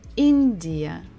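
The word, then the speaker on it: Индия: country India India so here we stress the first syllable in India India India India next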